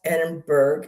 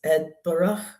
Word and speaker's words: Edinburgh: on Instagram that was teaching people how to properly pronounce is he says, and he's and he's from Scotland, and he goes, "It's not Edenburgg, it's not Eden Burough, it's Edbur.